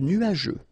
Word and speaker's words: nuageux: Remember, final X here not pronounced.